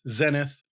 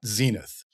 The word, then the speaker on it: Zenith: is a British character, I'm going to use British pronunciation, so it's Zenith, not Zenith. Hope that's not too confusing for everybody, but it's kind of a tomato-tomato thing.